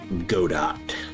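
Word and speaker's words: Godot: game engine is called Go Dot cuz it has a robot logo. So, apparently it's supposed to rhyme with robot.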